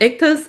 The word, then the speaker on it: Ictus: so it's called Ictus Audio, ICTUS. That's how we pronounce it.